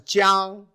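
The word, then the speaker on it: 江: So this is a big river, pronounced as Jiang.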